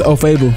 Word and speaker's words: Ofoegbu: It's OFOEGBU. OFOEGBU? Yeah, G silent.